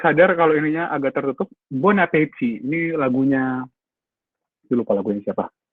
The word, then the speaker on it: bon appétit: Kenapa ini bacanya nggak bong, Kak? Kayak bonjour atau bonsoir. Karena dia dipisah terus pas ketemunya huruf vokal. Kalau misalnya tadi ketemunya huruf mati, terus apalagi disambung ya, kayak bonjour misalnya. Ya bacanya bonjour. Gitu. Ini karena ketemu huruf hidup jadinya mati dia.